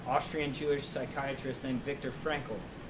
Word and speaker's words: Frankl: It's a book written by an Austrian Jewish psychiatrist named Viktor Frankl. His last name is spelled F-R-A-N-K-L, Frankl.